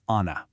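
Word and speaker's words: أنا: The word for I in Arabic is ana. Pretty simple, right? Sounds just like it's spelled.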